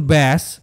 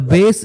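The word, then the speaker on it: bass: বি A double S এটার উচ্চারণ যখন ব্যাস তখন এটার অর্থ এক ধরনের মাছ for example দ্যা বেস ইন দা song made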